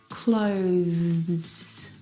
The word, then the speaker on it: clothes: Now the th sound is very very soft. It is definitely still there. It needs to sound different from the verb close. Okay, which doesn't have the th sound. This word has the th sound. Clothes. Clothe clothes. It's very short, but it's definitely there.